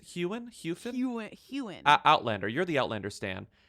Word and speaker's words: Heughan: Heughan.